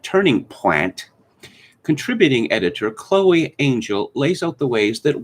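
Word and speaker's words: Angyal: A woman called Chloe, it's spelled Anyal, but apparently it's pronounced Angel, has a piece in Marie Claire, The Unbearable, wait for it, Whiteness of Ballet.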